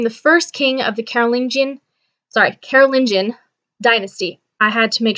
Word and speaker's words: Carolingian: Martel's son Pepin the Short became the first king of the Carolingian dynasty. I had to make sure I looked it up and pronounced it properly. So Carolingian.